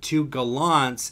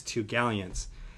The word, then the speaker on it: Two Galleons: going to pronounce it the way that it's supposed to be pronounced which is two galleons and he was like